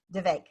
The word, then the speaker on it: Vivek: it again for me Vivek yep the the way I get people to remember it is it's the vacant rhymes with heartache like the one you